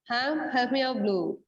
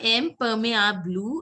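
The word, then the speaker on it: imperméable: Impermeable. It's not impermeable. It is impermeable.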